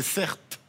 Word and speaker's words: Certe: Mon prénom, c'est Certes. C'est le prénom que je porte depuis 35 ans. Ça s'écrit C-E-R-T-E.